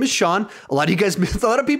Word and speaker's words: Sean: is my name is Sean a lot of you guys a lot of people think my name is pronounced seen because they read it it it's spelled see and so they think it's seen so I just say